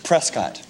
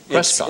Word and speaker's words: Prescott: Prescott. Prescott.